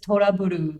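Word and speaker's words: トラブル: looks like it's just Turaburu, Yeah. Turaburu, however you want to pronounce it, but the Japanese is just Toraburu, like the word trouble.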